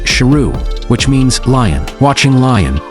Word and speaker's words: Sheru: His name is actually pronounced Sheru which means lion.